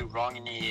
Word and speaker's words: Rúngne: pronounce Ry hey man many ways to say it I mean you can say rongie if you want but how I would say it is that's right I got